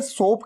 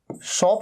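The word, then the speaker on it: soap: अच्छा, इसे सोप कहना है, सोप, इसे शॉप नहीं कहना है। कई लोग कंफ्यूज हो जाते हैं, प्रोनाउंसिएशन मिस्टेक कर देते हैं।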